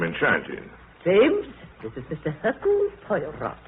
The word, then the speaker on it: Hercule Poirot: Hercule Poirot. How do you do, sir? Mr. Poirot is our new neighbor. If I may be permitted one slight correction, my name is Hercule Poirot.